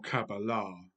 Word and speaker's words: Qabalah: and answer the question what is cabala or cabala as it is pronounced by the Hebrews now it's not an